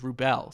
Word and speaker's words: Rubell: my name and the way you pronounce last name is rubell so it's just here